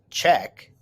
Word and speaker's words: Czech: The Czech, pronounced Czech, Republic is a country on the continent of Europe.